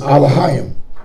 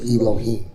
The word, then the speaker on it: Elohim: So it's so it's not it's alohim.